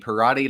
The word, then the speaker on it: Perrotte: Perrotte like karate.